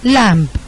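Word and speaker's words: lamb: في الكتابة لام أند لامب هم مختلف لام يعني خروف صغير مش بنطق البيت بي سايلنت لكن لامب لامب يعني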